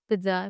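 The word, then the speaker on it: pizza: अभी तो काफ़ी लोग सीख चुके हैं, जैसे पिज़्ज़ा होता है, पिज़्ज़ा, सो पिज़्ज़ा, पिज़्ज़ा, eats पिज़्ज़ा, P-I-T-Z-A, ये इसका प्रोनाउंसिएशन, इट्स पिज़्ज़ा।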